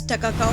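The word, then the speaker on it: Takakkaw: Takakau, apparently pronounced as Ta-ka-kau, means it is wonderful in the local Cree language.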